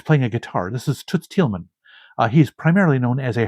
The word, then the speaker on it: Toots Thielemans: I know how to pronounce his name Toots Thielemans.